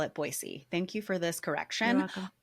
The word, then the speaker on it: Boise: side adjacent to that boisey you never say Boise boyy oh boisey boyy that's really good to know I think I've said